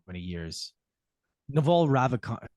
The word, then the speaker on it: Ravikant: Naval Ravikant. How do you say his last name? I think Ravikant? it's Ravikant.